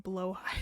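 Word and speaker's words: Blåhaj: One, fun fact, Blahaj is actually pronounced more like blowhigh.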